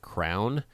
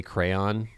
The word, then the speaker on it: crayon: I was a kid I think as a kid I said almost like crown yeah but now I say crayon like that but I don't think that's how I grew up with one syllable rhymes with man crayon no second syllable rhymes with dawn crayon Chron crown it's